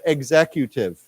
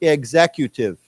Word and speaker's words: executive: don't we say together executive exective executive remember this has a z sound so executive one more